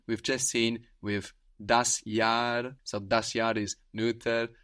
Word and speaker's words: das Jahr: For example, the year is das Jahr, that's spelled J-A-H-R, and that H just stretches out that vowel, das Jahr.